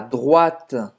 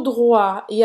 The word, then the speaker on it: droite: Tournez à droite. Tournez à droite. Tournez à gauche, esquerda. Tournez à droite, direita. À droite. Et ce sont des wa, hein, como se fosse wa.